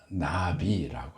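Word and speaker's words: נביא: 이 히브리어 나비라고 합니다. 나비야는 그 나비랑 발음이 똑같아요, 글자가.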